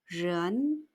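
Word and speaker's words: 人: 사람 인자를 쓰고 중국어로 ren 이성, 른 하고 소리냅니다. 사람, 른.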